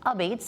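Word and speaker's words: apizza: It's pronounced a beats.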